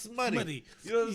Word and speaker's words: Smuttie: I've gotten OODY. You know what I'm saying? I've gotten OOTY. Yeah. You know what I'm saying? OOTY, but it's SMUTTIE. You know what I'm saying? Which is pronounced smutty.